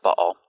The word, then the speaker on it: Baal: Now, you may know him as Baal, but I was taught to pronounce it Baal.